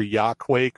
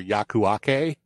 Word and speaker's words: Yakuake: pop-down terminal called and i i'm going to pronounce this wrong i know it it's either yaw quake or yakuake um tasty yeah uh also it's y-a-k-u-a-k-e